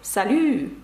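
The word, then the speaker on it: salut: що це приголосна французькою щоб сказати Привіт - це слово Са і пишеться воно з літерою Т наприкінці це приголосна вона не вимовляється це легко запам'ятати салю Привіт є красиве слово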